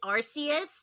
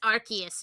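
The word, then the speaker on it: Arceus: name of the Pokemon they actually told us how it's pronounced after the the community's been calling it Arus this entire time and then they're like no it's Archus now change your ways and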